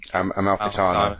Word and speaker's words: Amalfitano: But I mean, I'm going to sound silly trying to pronounce his name. Is it Amalfitano? Amalfitano, yeah.